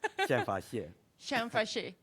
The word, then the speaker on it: Xianfa Xie: say it's not as you many people cannot pronounce my name Shan Shan fash thanks and he's going to talk about why